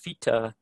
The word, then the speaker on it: vita: might uh find a word like vita uh is pronounced fita um by a wide variety of different people and it could be